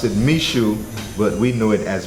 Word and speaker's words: Michoud: Actually, a place called, they pronounce it Michoud, but we know it as Miku.